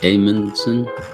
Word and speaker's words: Amundsen: do macalpine i've been pronouncing it wrong edmondson it's amundsen edmondson okay